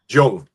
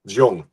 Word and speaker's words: Jung: Jung. Carl Jong.